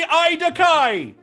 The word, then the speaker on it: Idakai: last name joral currently oh that would be idakai ah ah okay excellent it rhymes with i want to die yeah it does